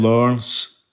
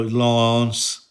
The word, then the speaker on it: Laurence: Jim's girlfriend Laurence, or she's a French girl, Laurence is how you say it, but we called her Laurence because we are, unsophisticated Scotsmen.